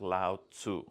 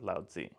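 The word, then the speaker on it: Laozi: Century BCE yeah the the old writing system would have you say his name as Lau okay um we've abandoned that and we're now going with loudy all right um yay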